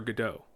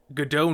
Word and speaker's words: Godot: And as he's going through the resume, he sees this one play called Waiting for Godot, or Waiting for Godot. But it's pronounced Godot.